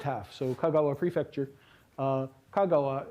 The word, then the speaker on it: Kagawa: so kagawa prefecture uh kagawa is uh its name of a place and it's uh got accent on its first syllable but the expression for